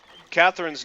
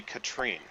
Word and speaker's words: Catherine: about that Andy is Catherine's name is not actually Catherine it's actually Katrine uh atus kept mispronouncing it and she finally got